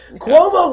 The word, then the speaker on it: Cuomo: Cuomo rhymes with homo.